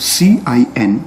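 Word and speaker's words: cin: number one we have c i n which is pronounced as c in so we call this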